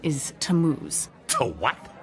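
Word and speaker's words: Tammuz: where do I find him his name is tamuz to what t a m m u z it's pronounced tamuz maybe if you show me your evidence he'll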